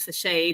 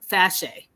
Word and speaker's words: Fashe: said my name wrong I used to say hey my name is fase to everyone and that's what people call me but my name is fashe and so when I